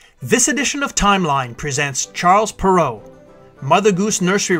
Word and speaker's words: Charles Perrault: This edition of Timeline presents Charles Perrault, Mother Goose Nursery Rhymes, and Brothers Grimm Fairy Tales. The birth of French author Charles Perrault, pronounced in French as Charles Perrault, is situated on the timeline in the 17th century in 1628.